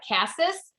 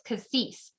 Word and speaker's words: cassis: did look that up it's spelled like cassis but it's cassis and sandalwood which i